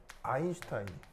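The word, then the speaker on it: Einstein: 하냐면가 그냥 스가 아니고요 독일어에서 st t 뒤에가 붙으면가 쉬 바입니다 쉬 쉬 알죠 쉬요 발음 그래서 얘 읽을 때는 어떻게 있냐면 슈타인이 슈타인 알겠죠 그래서 아인슈타인이 그래서 이게 이게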